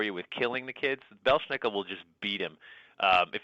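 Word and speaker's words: Belsnickel: Like my favorite one, I'll probably say it wrong, the Bushnickel? Belschnickel.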